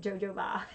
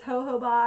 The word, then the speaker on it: jojoba: how we pronounce it or is it jojoba like jojoba but it's ho ho bah I think anyway so then you